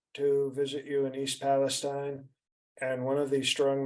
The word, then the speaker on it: Palestine: just um you visited East Palestine Ohio it's pronounced Palestine okay um they don't